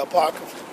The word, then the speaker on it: Apocrypha: Could you pronounce it one more time for me? the Apocrypha. Apocrypha.